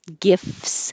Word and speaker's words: gifts: and Tuesday, we practiced gifts. So you don't have to say the T, just skip the T and make FS, gifts.